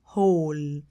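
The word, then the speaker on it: whole: لو تلاحظوا يا اد ان الدبليو وهنا سايلنت لا تنطق كل يعني هول هول هول عيد الميلاد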